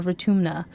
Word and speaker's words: Vertumna: uh uh no pronunciation I assume it's like this word for tomna or Fortuna I think it's a u because that one that I looked up is a nose so it's vertumna okay we'll continue his